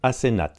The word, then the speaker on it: Asenath: Edward rencontre Asenath, ça s'écrit A-S-E-N-A-T-H, une jeune femme étrange et mystérieuse qui descend d'une famille d'Innsmouth.